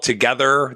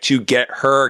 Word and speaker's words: TOGETHXR: earlier that it's called together that's how you pronounce it like to get her because it's like t